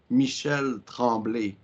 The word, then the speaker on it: Michel: And it's pronounced the same way.